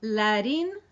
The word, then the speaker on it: Larín: So the first time it's Larín, Larero. If you can roll the R's, that's great. And if you can't roll the R's, that's fine too.